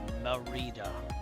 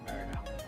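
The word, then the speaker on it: Mérida: Merida. M Marita. Marita. Not Merida.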